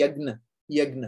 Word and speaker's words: यज्ञ: अगर यज्ञ होता है ना, यज्ञ, एक्चुअली यज्ञ का प्रॉपर प्रोनाउंसिएशन है यज्ञ, है ना.